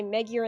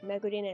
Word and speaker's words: Megurine: uh i didn't i used to also say megure and luca instead of like megurine and luca so i i wasn't